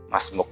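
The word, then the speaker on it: ما اسمك: Nah, masmuk itu apa namanya ya? Sebenarnya man ismuka gitu. Atau di sini sebenarnya tulisannya masmuka. Tapi kalau orang Arab itu yang belakang, huruf yang belakang mesti dimatikan. Jadi bacanya masmuk.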